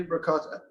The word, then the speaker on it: ricotta: now I was told definitely that it was 1.5 pounds of ricotta. Now I don't say it properly. How does the Italian say ricotta? Ricotta.